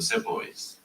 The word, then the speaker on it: Sepoy: You're talking about the divided loyalties of the Sepoys.